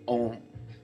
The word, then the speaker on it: Om: It's actually said Om, okay? I believe that's how it is officially said. I think it's a historical word based in religion, but it's Om, O-M. It's not spelled that way.